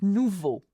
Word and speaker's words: nouveau: Nouveau. Nou, O, and vo, E-A-U, is the sound O. Even though there is an X, you do not pronounce the X.